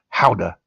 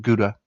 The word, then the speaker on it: Gouda: Let's Let's go to Holland and try a three-year-old aged Gouda cheese, which is pronounced howa in Dutch, but Americans call it Gouda, and that's fine.